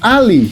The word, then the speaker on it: alley: Y entonces, ¿qué demonio significa Ali? Ali, porque yo sé que hay una e ahí, pero no más está de adorno.